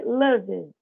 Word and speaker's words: loved: Primeiro, esse D no final dos verbos é mudo, não tem um I aí depois dele.